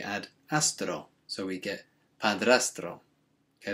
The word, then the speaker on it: padrastro: we get padrastro okay there's a lot of tongue rolling in that one because we've got the dr and then the tr sounds strong okay so it might take a bit practice to to get your mouth around that one stepfather or stepdad now